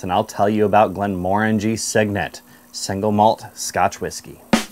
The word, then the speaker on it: Glenmorangie: I like to remember this one by saying, it looks orangey, it smells orangey, Glenmorangie.